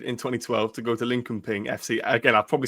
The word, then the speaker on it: Linköping: So, you decided in 2012 to go to Lincoln Ping FC. Again, I probably said the name very badly. Is it all right? Okay. Lin Sheping. That's that's the Swedish pronunciation.